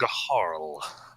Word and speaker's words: Gaharl: Gaharl. Okay. Gaharl. Oh, I was pronouncing it Garl before.